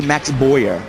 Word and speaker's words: Boyer: I suppose some would say Max Boyer. Yes, that would be the English pronunciation. We respect the French-Canadian in him.